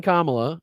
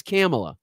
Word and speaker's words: Kamala: four more years of now he said Camala so we've had Kamala he's actually said it right saying Kamala and now it's camela so he said it three different ways at least in this